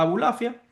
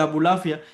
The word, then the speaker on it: Abulafia: Entonces, esa es la filosofía que llega a Abulafia a través de Maimónides. El mismo apellido de Abulafia, ya lo dice, es un apellido judío, pero es un apellido de pronunciación árabe.